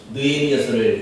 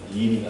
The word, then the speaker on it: 느헤미야서: 요즘 우리가 새벽마다 느헤미야서를 묵상하고 있어요. 느헤미야서. 이 느헤미야서를 발음을 잘못하면 니미가 됩니다.